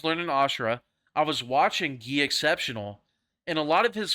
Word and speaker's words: GUI Exceptional: Yeah, someone said the way you pronounce his name is GUI Exceptional. That's what someone told me. So I don't know. I thought it was like Guy Exceptional. But someone Gaucho, you're from Brazil, so you probably know what it is. So how do you say it? How do you say it? Do you say it like Guy Exceptional? or Gi. Gi exceptional?